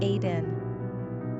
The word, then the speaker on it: Aedan: Pronunciation, Aidan.